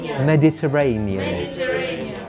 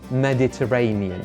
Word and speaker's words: Mediterranean: mankind is the Mediterranean to remember this word break it down Terra Turanian Mediterranean Terra Turanian Mediterranean Mexico City Mexico City